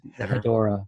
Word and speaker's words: Hedorah: And I like to pronounce it Hydra. I don't go for the Hedorah.